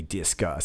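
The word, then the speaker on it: Disqus: actually a separate app called disk I think it's meant to be discus it's spelled with a Q instead of a C but it doesn't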